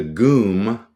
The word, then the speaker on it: GUM: And I remember vividly entering what was known as the GUM, kind of rhymes with gloom, the GUM department store.